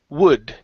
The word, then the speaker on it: wood: is let's see uh the word wood right here instead of w okay V okay give me an o w wood wood good job much better